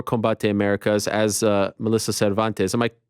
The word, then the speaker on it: Cervantes: in mma for combatte americas as uh melissa cervantes am i pronouncing your name correctly cervantes yes yes um yes and what is interesting